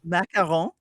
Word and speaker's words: macaron: How do I pronounce them? Macaron.